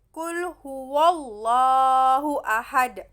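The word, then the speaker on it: قُلْ هُوَ اللَّهُ أَحَدٌ: Itu adalah bacaan tafkhim, contoh bacaan tafkhim yang lam jalalah itu didahului oleh huruf fathah. Nah, tafkhim itu kan bacanya tuh tebal, adalah hukum bacaan atau bacaan yang dibaca dengan tebal.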